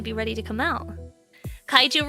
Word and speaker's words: kaiju: Kaiju rhymes with waifu after all?